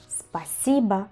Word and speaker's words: спасибо: En este caso, en pasiva, que es gracias y no es pasiva, la o del final se convierte en una a por porque básicamente la regla de la acentuación.